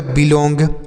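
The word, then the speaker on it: belong: बी से ब पढ़ेंगे, ई से छोटी की मात्रा, एल से लॉ, ओ एन जी को ओंग, तो यह हो गया बिलोंग, बी ई एल ओ एन जी बिलोंग हो गया।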